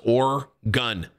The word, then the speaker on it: Oregon: the other day and the way you pronounce oregon was pretty funny just has up it's pronounced or gun have a good fun weekend it's oregon bro thanks for your